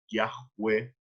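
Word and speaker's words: Yahweh: van a decir que la pronunciación más aproximada es viaje web y esto es lo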